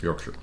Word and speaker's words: Yorkshire: us to remember it okay Yorkshire because I think Americans we tend to say Shire too much Lord of the Ring movies my bad but yeah but we say New Hampshire so that's the best remember so in the Yorkshire